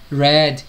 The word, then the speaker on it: read: que é tudo igual, aqui já é read, red, se pronuncia ele como se fosse vermelho, né, a mesma pronúncia do vermelho em inglês.